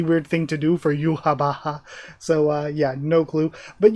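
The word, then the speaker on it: Yhwach: Because I was always like, Yoak? Like, is that his name? That's like Yoak. That's what I always thought, and it's Yuhabaha.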